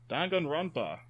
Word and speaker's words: Danganronpa: Alrighty, Danganronpa. I pronounced that right.